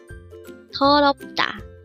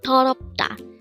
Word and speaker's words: 더럽다: 더럽다. Again, 더럽다. This is pronounced as a three-syllable word.